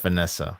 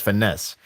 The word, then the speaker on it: Finesse: I think it's Finesse. I think. Finesse. I said Finessa. Yeah, that's with the A. Excuse me. So it's Finesse. That should be how you pronounce it.